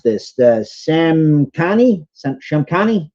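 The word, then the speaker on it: Shamkhani: Shamani. How do you say it like how you guys would say it? Shamhani.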